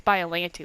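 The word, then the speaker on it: Biollante: film was Godzilla versus biolante or lagte whatever you say how are you however you say your name but I think it's by alanity which is like the proper pronunciation so um after I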